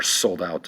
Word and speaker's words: sold out: So the accent is going to be over the out.